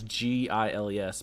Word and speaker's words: Giles: Like Giles, Giles, but it's got that J sound Like before, giraffe.